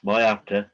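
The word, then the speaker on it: Moyarta: there and say that my after is pronounced my actor okay i live within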